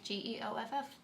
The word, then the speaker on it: Geoff: Then I guess everyone who spells Jeff with a G is spelling their name wrong? Who spells Jeff with a G? Geoff. Oh, short for Joffrey? No, that's Jeff. No. That is Jeff. People spell Jeff that way.